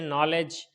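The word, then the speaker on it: knowledge: गया इसी तरीके से नॉलेज एन से पहले के है साइलेंट हो गया पढ़ा नहीं गया इसी तरीके से नीड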